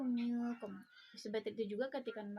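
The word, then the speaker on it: منكم: Kita membacanya antara izhar dan idgham. Minkum, bukan minkum dan bukan juga minkum. Kita membacanya samar-samar, yaitu minkum.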